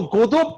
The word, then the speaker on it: Godot: Godot। टी है तो बोलिए टी। सर, टी साइलेंट है, लेकिन क्यों साइलेंट है?